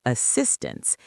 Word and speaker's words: assistance: Technical assistance. Stress the second syllable of assistance.